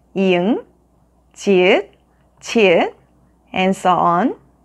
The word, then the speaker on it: 이응: Second, 이응 sounds like the letter ng in the word ring. 응, 응, 응.